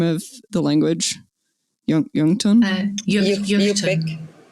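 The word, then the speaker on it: Yup'ik: Yungtun? Yupik. It's actually Yupik, because when you say Yuchtun, you're saying in Yupik. So it's like an incomplete.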